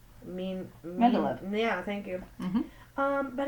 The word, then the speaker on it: Mendeleev: Mendeleev.